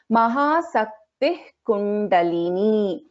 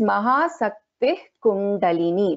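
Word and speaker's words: महाशक्तिः कुण्डलिनी: So we have a Visarga and after that we have Ka. So here there is a Jivha Muliya. So how we pronounce here this particular verse is, pada is Mahasaktih Kundalini.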